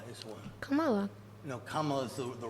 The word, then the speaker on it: Kamala: No, Kamala is the right way to say it. It's Kamala. Is it not Kamala? No, Kamala is the right way. Like if you say It was governmental. Kamala.